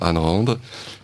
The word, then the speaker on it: Ayn Rand: ou la commander auprès de vos libraires, ça s'écrit A-Y-N et un peu plus loin R-A-N-D. Voilà, Ayn Rand.